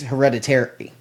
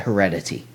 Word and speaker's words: Hereditary: It's Hereditary. It's not Heredity. I said Heredity. It is Heredity. Hereditary. There's an R in it.